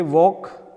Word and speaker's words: walk: L is silent, the word L is silent in a talk, like a walk, viscount, indit, rituals.